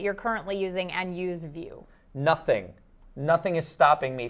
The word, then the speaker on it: Vue: to use the hashtag TD view v u e because that's how you spell it and we want you